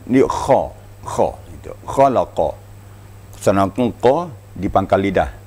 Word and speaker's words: خلق: Kha membacanya harus ada getaran pada tenggorok kita. Ya, kha ya. Itu kha itu aqsal haqq, artinya di ujung di ujung tenggorokan. Diterasa getarnya pada ujung tenggorokan.